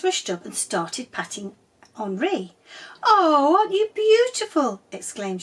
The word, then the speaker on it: Henri: "Bonjour, my name is Henri," he said, pronouncing his name Henri.